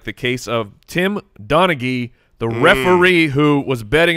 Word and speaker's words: Donaghy: It's Tim Donaghy. They were specific about that? Yeah, hard G sound. I was going to correct you. Yeah, well, you would have been corrected. So it's Donaghy?